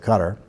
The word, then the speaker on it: Qatar: our erstwhile Ally Qatar qat I are I pronounce that Qatar is funding Texas A&M